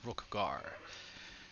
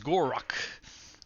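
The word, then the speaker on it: Gor-Rok: We are playing as Rookgar. I'm at least saying his name correctly this time. Gorok. Nope, I still said his fucking name wrong. Okay, we're playing as Gorok.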